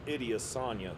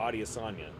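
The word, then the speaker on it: Adesanya: And I had no idea these guys were this old, especially Israel Idiasa. Who? Adiosa. Sorry. I don't know why I pronounced it that way, but uh he's apparently 35.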